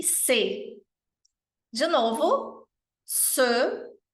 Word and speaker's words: ce: Se, cette e se. De novo, se, e aqui é o som do E francês, lábios de O, som de E, se, cette e se.